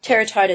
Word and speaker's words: Terratota: This company that you were hired by on page 19, and of course you call it Terratota, is that how you say it? Terratota, that's correct, yeah.